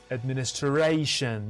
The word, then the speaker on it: administration: Which syllable is stressed? And the answer reveals in 3, 2, 1 seconds. And we see a stress shift comparing to the verb form. Administer, administration, you see.